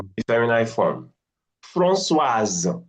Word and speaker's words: Françoise: Françoise, the S has become Z now, in between two mm, vowels.